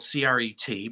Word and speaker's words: Cret: Member of Arts Commission architect Albert Kahn recommended French architect Paul-Philippe Cret, spelled C-R-E-T, but pronounced Cret, for the new museum's building plans.